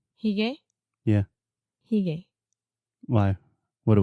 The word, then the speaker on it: hygge: the thing is, I was reading yesterday as well that the less amount of objects is important when you talk about Hygge, but everything that makes you comfortable and cozy, it's okay.